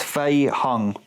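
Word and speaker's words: Fei-hung: young must have won i keep getting his name wrong because it's faye hung master one you know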